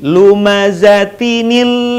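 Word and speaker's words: لمزة: Jadi kalau kita menyambungkan ayat pertama dengan ayat keduanya, perhatikan kata lumazatin bertemu dengan alladzi, maka lumazatin dibaca tidak menjadi tin tapi tini. Lumazatinil ladzi.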